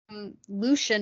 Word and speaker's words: Lucian: Oh, I was just gonna say like Lucian is pronounced Lucian, but I like to say Lucian because it just sounds fancier to me.